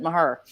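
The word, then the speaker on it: Mexia: her yeah if you're if you're originally from mahea you pronounce it maher and the the next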